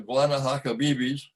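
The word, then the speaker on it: Guanahacabibes: Now we're way down to the end of the peninsula, which I had to learn to pronounce, the Guanahatabibis Peninsula at the very western end of Cuba, where there's a national park.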